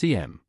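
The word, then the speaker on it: SIEM: Enter Security Information and Event Management, or SIAM, sometimes pronounced CM. It's up to you how you pronounce it, as long as you know what it is.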